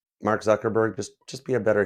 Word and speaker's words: Zuckerberg: Anyways, there's a reason the last syllable of Mark's last name sounds is the same as the last syllable in the word iceberg. Mark Zuckerberg, just just be a better human being.